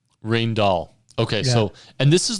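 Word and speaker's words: Rijndael: apologies there and I think it's pronounced rain doll rain doll okay so and this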